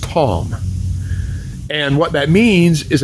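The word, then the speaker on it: תם: a plain man now the hebrew word for plain there is tom t-a-m it's pronounced tom and what that means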